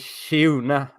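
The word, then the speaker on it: Kyeyune: Is that how you say it? Shune, I think.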